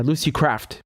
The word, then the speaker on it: Lucy Kraft: Yeah, Lucy Kraft with a T.